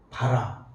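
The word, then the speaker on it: בָּרָא: 바라 발음은 바라. 아니 바라라고 바하고 발음 없이 라.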